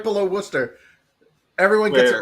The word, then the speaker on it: Worcester: there you go so what's warer warer that's Worcester uh all right let me